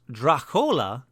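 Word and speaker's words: droch fhola: word Dracula comes from the Irish Drachfola, pronounced Drachola, meaning bad blood.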